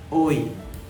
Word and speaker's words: hoy: Hari ini bahasa Spanyolnya adalah hoy. Hoy. Ingat ya, dalam bahasa Spanyol H atau AC itu silent, tidak diucapkan.